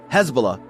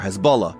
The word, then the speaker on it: Hezbollah: So, let me tell you, Hezbollah, or Hizballah, or Hizbullah, or Hezbollah, all the different pronunciations, is a Lebanese group, but their story doesn't actually start in Lebanon.